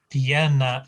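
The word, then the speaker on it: pierna: middle poeta piana now piena is um leg and that's got the stress at the beginning again stress at the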